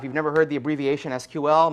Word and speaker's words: SQL: The structured query language, if you've never heard the abbreviation SQL, most people pronounce it SQL, although I believe technically that is not correct, is a query language